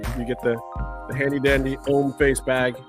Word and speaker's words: Hommeface: You get the handy dandy Hommeface bag. The H is silent. That's a silent H there. Hommeface, because it's French for man face.